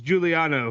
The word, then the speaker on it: Giuliano: Okay, remember this is Giuliano, right? That's how you say it correctly.